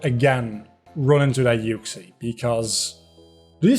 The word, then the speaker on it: Uxie: again run into that yuxi because do you say your oxy i i've heard people say oxy which is really just makes my skin crawl i i know i